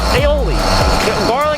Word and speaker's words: aioli: myself garlic areola or I call it aerial sauce aioli Oli sauce that's the real pronunciation I always think garlic